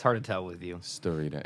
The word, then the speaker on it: Starita: Star? Ita. Ita. Starita. Starita. Starita. It's less Japanese. More Starita.